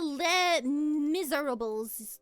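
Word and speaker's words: Les Misérables: I also do want to see the Les Miserables. That is how you pronounce it, yes.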